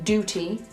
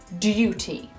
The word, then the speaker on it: duty: We do not say duty, duty. Let's hear an example. 007, reporting for duty. Reporting for duty. It is called a liquid U because the U sounds a bit like liquid. U, duty, or singing a tune. Tune.